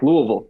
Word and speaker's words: Louisville: Yeah, Louisville.